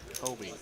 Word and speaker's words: Homie: Homie is his name. Yeah, it goes. Oh my. I was told it is pronounced just like homie. Okay. Like your homie, your friend, your pal, acquaintance, yada yada.